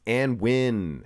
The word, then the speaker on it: Anwin: competitor number 15 the often mispronounced name of anwin it's not an it's anwin and an win he